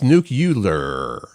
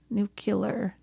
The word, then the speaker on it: nuclear: one for that one our friend Bill said nuclear that people pronounce nucular nuclear nuclear I might say nuclear